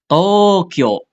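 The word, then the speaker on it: 東京: Contoh Tokyo Tokyo ini ada dua nih, Tokyo ya. Contohnya bahkan di double di sini U dan U ini kan dari O ya kan TO itu dari O ya minasan ketemu kalau dipanjangin ya ketemunya sama U.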